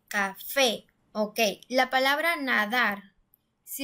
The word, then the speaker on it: café: Nosotros decimos café, es decir, la última sílaba es la que se escucha mucho más fuerte, café.